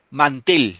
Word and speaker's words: mantel: Mantel. ¿Dónde recae el acento? en man o en tel. Tel. En la e.